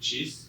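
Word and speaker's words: CHIS: intelligence source which is the acronym is pronounced cheese like like cheese but he didn't really caught on.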